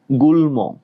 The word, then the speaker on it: গুল্ম: এবার আসি লতিকায় গুল্ম, গুল্ম, গরস্যকার বসিয়ে দিলাম, ল হসন্ত, কেন গুল বলি নাই, গুল, এখানে অটা উচ্চারণ হচ্ছে না, আমরা জানি যেই ব্যঞ্জন বর্ণে অ উচ্চারণ হবে না সেখানে হসন্ত। গুল্ম, শেষে মটা উচ্চারণ হচ্ছে, শেষে মটা অ উচ্চারণ হচ্ছে, তার মানে শেষ বর্ণে যদি অ উচ্চারণ হয় সেখানে কি করতে হবে? ওকার করে দিতে হবে, ঠিক আছে, তাহলে গুল্ম।